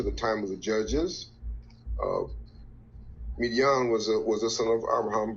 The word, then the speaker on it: Midian: How you pronounce this? Sons of Midian. Yep, Midian.